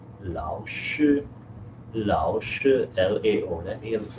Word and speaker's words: 老: 你不是老师, L-A-O, third tone. 老 there meaning old.